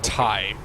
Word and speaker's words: Tai: for my name and my name is pronounced Tai you would think it'd be nice and simple but I found that Middle Eastern and Indian people call me t i i i don't